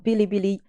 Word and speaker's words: Bilibili: Bilibili, Bilibili, Bilibili, Bilibili. I mean, just phonetically, you will realize that it's not my generation.